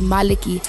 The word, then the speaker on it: Malachi: And like it's Malaki. Yeah. The correct way to say it is Malaki.